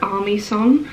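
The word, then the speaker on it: Aimee Song: spelled amy's song but i believe she pronounces her name army as in like army song so i'm not quite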